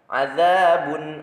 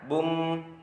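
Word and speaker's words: عَذَابٌ: Contoh lafal azabun alim. Azabun, jangan bum, tapi ke nun matinya harus jelas. Bun. Azabun alim.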